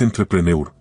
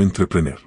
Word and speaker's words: entrepreneur: La palabra es entrepreneur, no entreprener.